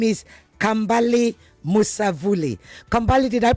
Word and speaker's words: Kambale Musavulli: His name is Kambale Musavulli. Kambale, did I pronounce that correctly?